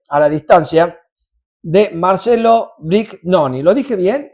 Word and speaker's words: Brignoni: la distancia, de Marcelo Brignoni. ¿Lo dije bien? ¿Es Brignoni o Brignoni? Depende, digamos, en su idioma original sería Brignoni, pero Brignoni. En argentino es como vos lo has pronunciado.